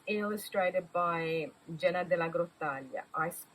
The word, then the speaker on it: Grottaglia: And it's illustrated by Jenna de la Grottaglia. I pronounce it in the Italian way, but it's probably de la Grottaglia in English.